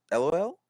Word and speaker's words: LOL: to the team uh lol Is that how how pronounce it yeah perfect yeah uh yeah basically fonetic pronunciation of LOL right so oh I like